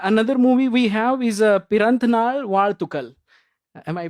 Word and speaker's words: Piranthanaal Vazhthukal: Uh another movie we have is Piranthnal Ward Tukal. Am I pronouncing it right?